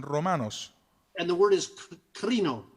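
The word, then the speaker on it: κρίνω: And the word is krino. It's pronounced Y la krino. palabra se pronuncia crino.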